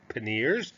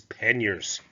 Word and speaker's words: panniers: as a side note some people may said paneers that's okay now um you we don't judge you but please know that the connect pronunciation is panniers start in france you